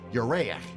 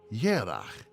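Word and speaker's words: ירח: But the same Hebrew word, Yereach, moon, has another meaning in Hebrew, though pronounced differently. Yerach also means month.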